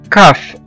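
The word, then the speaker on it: cough: وزي كمان كلمة كاف كاف او يسعل، الواحد لما بيكح دي اسمها كاف كاف سي او يو جي اتش كاف.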